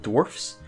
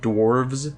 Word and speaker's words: Dwarfs: an indie game called Dwarfs so it is I pronounce a dwarf with an FS sound not dwarves with a VES I've gets the name of the game top right dwarfs !